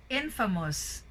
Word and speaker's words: infamous: Infamous. Of course, we say famous, in.